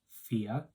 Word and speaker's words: vier: 4 is vier. Vier. That V sound is pronounced like an F.